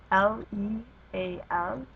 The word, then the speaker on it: leal: But if you have a word like leal, Leal, leal, because the last letter is an L, which is not a vowel N or S, then it fits into the anything else category.